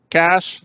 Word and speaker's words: cache: end and with a c-h not sh yes cash now any anyone anyone knows where cash comes